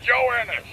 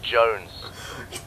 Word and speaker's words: Jones: God we're not Private Joe Ennis! Joe Ennis! Joe Ennis! Where the hell are you? Sir, for the millionth time, my name is pronounced Jones. British. Jones.